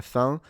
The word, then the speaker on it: fin: But the problem is that in Italian it's pronounced fine, right? With an added E at the end is pronounced E. So recognizing la fine when it's pronounced la fin with this very nasalized sound is difficult for Italians.